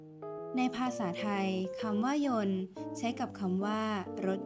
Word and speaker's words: ยนต์: รัก มา จาก ภาษา ขอ เสนอ คำ ว่า โยน และ โยน คำ ที่ ออก เสียง ว่าน แปล ว่า เครื่อง กลไก หรือ เครื่อง จักร ที่ ทำ ให้ วัตถุ เคลื่อน ที่ สามารถ เขียน ได้ 2 แบบ โดย แบบ แรก ได้